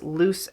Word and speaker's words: Luce: And he said his name is Luce as in lucid.